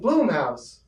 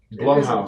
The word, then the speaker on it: Blumhouse: Next is what people have been saying, Bloomhouse, but Blumhouse. It's Blumhouse. I don't know where you get Bloomhouse from. It's spelled B-L-U-M. It's Blum.